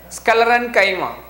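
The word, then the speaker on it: sclerenchyma: chemo please listen carefully it has to be pronounced as scalar and chyma the scalar and chima consists of thick walled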